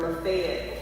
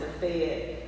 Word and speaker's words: Lafayette: Water Valley is located about 18 miles from Oxford, Mississippi, or Lafayette County. They pronounce it Lafayette in Mississippi versus Lafayette in Louisiana.